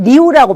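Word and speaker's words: 六: 중국 문화에서 이게 8이라는 거는 이게 6은 리우라고 발음을 하는데 리우 이렇게 발음을 하는데 이게 이제 물 흐를 때 유하고 이제 필발 발전한다 할 때 그 필발자 이 빠하고 발음이 비슷해요.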